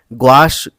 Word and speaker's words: gouache: तो हम यहां पर गोचे रंग इसलिए कह रहे हैं इसको क्योंकि यह फ्रांसीसी शब्द है और किसी भी टेक्नीक को अगर आप उसका प्रोनाउंस एशन अच्छे से करते हैं सही ढंग से करते हैं तो आप जो है उस टेक्निक को भी अच्छे से समझते हैं तो यहां पर हम